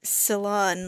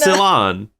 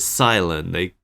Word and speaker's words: Cilan: I always thought it was pronounced like Ceylon, like cilantro.